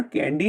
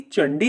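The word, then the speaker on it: Candi: कैंडी संसारी है लेकिन इसका उच्चारण कैंडी नहीं बल्कि चंडी होता है लेकिन इंडोनेशियाई लोग इसे इसी तरह बोलते हैं इंडोनेशिया में चंडी शब्द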